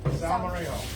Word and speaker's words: salmorejo: Salmorejo. Like San Jose Drive, but not at all like that.